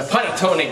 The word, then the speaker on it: panettone: The panettone game. How do you say it? Panettone. Panettone, with a little accent, Italian.